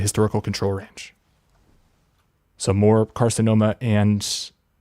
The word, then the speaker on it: carcinoma: ademia or carinia combined we see that right carcinom caromia that's still wrong carcinoma sorry were increased in